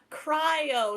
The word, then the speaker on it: cryo: now teach me it's cry o so you know when you cry o cryo the r is silent no it's c r y o cry like the word crying and oh cryo cryo cryo like cryogenics cry cryo